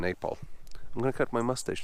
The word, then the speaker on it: Nepal: Nepal. How do you say Nepal? Nepal. Nepal, you see. Everybody say Nepal.